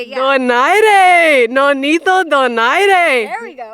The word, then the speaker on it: Donaire: Wait, actually Donito said your guys' last name is pronounced differently. Can you say it correctly? Is it do Donat? Wait, Don. Donare. There we go. Yeah, you should know how to say it. Yeah. Donare.